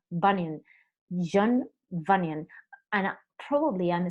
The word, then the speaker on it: Bunyan: And I said it wrong because I said Bujand. Bueno, horrible. It's not Bujand, it's Bunyan.